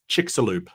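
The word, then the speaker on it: Chicxulub: yeah yeah yeah give me give me the pronunciation chickaloo chickalo chickaloo yes so that's chickalo the massive meteor that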